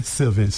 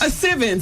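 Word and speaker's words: Sylvince: Sivens. Sivens.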